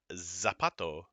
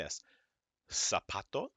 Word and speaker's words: zapato: as English and then a z is just like an S so it's not zapato say it like an s apato Azul a foreign foreign